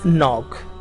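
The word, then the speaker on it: knock: topic लिया हुआ है अब तक की is silent in नॉक नॉक है उसमें के लेटर शुरू में लिखा हुआ है वह साइलेंट होता है उसको प्राणों नहीं किया जाता राइट टू ड्रॉप्स सविता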